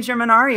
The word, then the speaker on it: Germanario: And I said my name wrong. yeah. I said area. That's so weird. Hey, I'm Germanario.